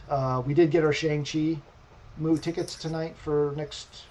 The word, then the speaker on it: Shang-Chi: nothing nothing significant uh we did get our shang chi move tickets tonight for next for 30 minutes